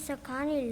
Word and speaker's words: Sakani: Sokani? And please help me out with the pronunciation. My name is Sakani.